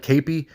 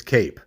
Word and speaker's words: Kape: you say his name it looks like capy or Kappy but I believe it's Cape like put the cape on if he's from